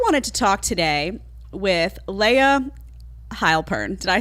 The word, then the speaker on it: Layah Heilpern: always so I wanted to talk today with Leia heilpern did I say it right instead of perfectly